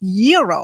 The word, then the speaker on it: gyro: Gyros I order the gyro Supreme suddenly the lady behind me chimes in it's pronounced Euro then the fell behind her says it's a gyro I turn my back